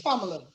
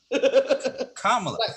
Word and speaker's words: Kamala: She's from India. It's Kamala. Kamala. Like Kama Sutra.